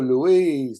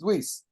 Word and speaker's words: Luis: so complicated in English Louise Louise I mean it's Luis it's a say like that they spell it all